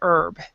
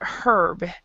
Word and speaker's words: herb: because i've heard because i pronounce it without the h i i pronounce it herb um but other people pronounce it herb and and i have